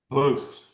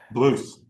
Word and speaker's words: Blyuss: This is uh Is that how you say your last name, brother? Blues. Almost got it. guys. How do you say it? Blues. Blues. Got it.